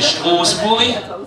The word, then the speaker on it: Strasbourg: Alors les principales villes chez nous, elles sont Strasbourg au nord, prononcée Straßburg, capitale de l'Europe, mais certainement pas de l'Alsace, je pense pas.